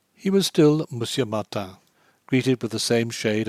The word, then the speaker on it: Martin: From the very first, Bigourdin decreed that he should be Monsieur Martin, Martin pronounced French fashion, and as Monsieur Martin he introduced him to the Café de l'Univers, and Monsieur Martin he was to all Brantôme.